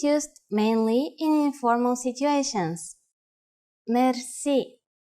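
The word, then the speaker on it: мерси: which word that is Mery Mery Mercy is a long word from French but it is pronounced with the typical Bulgarian hard r r it is used mainly in informal situations Mery how do you answer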